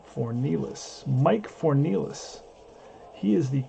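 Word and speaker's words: Fornieles: Okay, so his name is Fornells. That's how you pronounce his name. Fornells.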